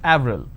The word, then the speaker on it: avril: pronounced differently for example the name april it's it's a month right in french it's pronounced that avril the name clement is